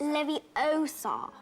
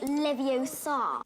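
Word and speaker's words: Leviosa: you know that one so saying it wrong it's Lev Oar not leviar uh thirdd one no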